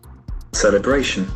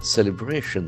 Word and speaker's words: celebration: Celebration. Celebration that actions and falls on this third syllable.